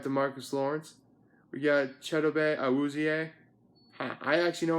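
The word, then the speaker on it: Chidobe Awuzie: defense we got the Marcus Lawrence we got cheddar Bay i was EA i actually know how to pronounce that name i took the time to learn how to pronounce cheddar Bay i was EA so should you and honestly the heart and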